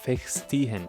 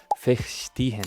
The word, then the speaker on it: verstehen: And then he taught me how to say the ST sound in the most creative way. Because for example, I was saying verstehen when it was supposed to be verstehen.